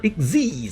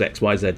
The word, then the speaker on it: Xyz: The digital bugs for Xyz summons. Because you would think that was XYZ summons. It's not. It's Xyz. For anybody unaware, XYZ is pronounced Xyz.